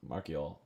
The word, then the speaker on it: Marchio: E.O. is how you pronounce it. He might have listened. Oh, maybe it was on the bench. Marchio.